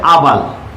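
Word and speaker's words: herbal: তাহলে বোঝা যাচ্ছে এটার উচ্চারণ হচ্ছে আবাল।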